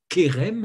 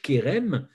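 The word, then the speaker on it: חרם: veut dire ce mot et rem que l'on prononce kerem en français kerem alors ça s'écrit et rem ou chez rm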